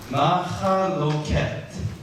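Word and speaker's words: מַחְלְקוֹת: Inheritance, possession, heritage, portions is Machalekot. The italicized pronunciation is wrong. Machaloket.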